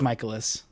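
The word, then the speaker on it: Mikolas: I should know how to pronounce that. He's good. Michaelis. It's Michaelis.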